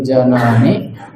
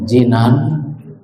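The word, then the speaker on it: جنان: aid dan juga dikatakan bahwa iman itu attasdiqu bil janani wal iqroru bilisani wal amali bil arkan attasdiqu membenarkan meyakini Ini bil janani dengan hati dibacanya janan. Kalau jinan artinya surga kalau janan artinya hati.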